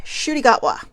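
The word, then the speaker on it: Ncuti Gatwa: Shudigatwa. Right? What a cool name. It looks nothing like it's spelled.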